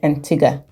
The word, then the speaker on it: Antigua: is this bit about the pronunciation of Antiga is it Antiga or Antiga because while we were there the locals called it Antiga so what do you